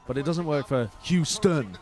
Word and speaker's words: Houston: But it doesn't work for Houston. Because the emphasis is on the first syllable, not the second.